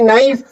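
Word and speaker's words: knife: ऐसे ही नाइफ। नाइफ में के की कोई जरूरत नहीं है। सिर्फ नाइफ से काम चल जाता है।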